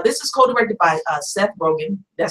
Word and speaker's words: Rogen: I like the those that are in the movie, you know, they say, now this is co-directed by Seth Rogen, did I say his name right?